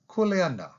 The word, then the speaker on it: kuleana: hawaiian language is kuleana take a moment and pronounce that with me kuleana in the hawaiian language values and most words